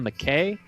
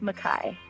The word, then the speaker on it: Mackay: Is this McKay? It's actually pronounced Mackay. Mackay. All right, fantastic.